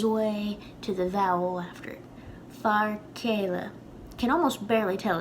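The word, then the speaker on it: fear céile: to make a point it's not literally like k it's kind of like a weaker k sound that sort of gives way to the vowel after far kayla can almost barely tell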